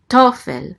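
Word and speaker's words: תֹּפֶל: Tofel. The accent mark is right here under the tav. So it's tofel. The accent is on the first syllable.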